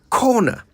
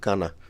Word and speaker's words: corner: There's no A in the word, so I wonder where the A sound even comes from. Anyway, I'm now comfortable that if you're pushed into a corner, you'll know how to say it right. So yeah, it's not kana.